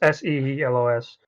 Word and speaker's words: Seelos: I googled it, and the planet we see in the end of the Clone Wars is Seelos, or I think it's pronounced. It's Seelos.